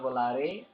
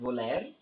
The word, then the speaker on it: Volare: The biggest rides over there were this Volare, the Zamperla Volare. Again, it's pronounced Volare and not Volaire. So that's a common mispronunciation coaster enthusiasts make.